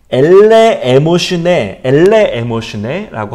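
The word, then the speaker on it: ἐλεημοσύνη: 좀 발음이 어려운데요. 엘레 에모슈네라고 합니다.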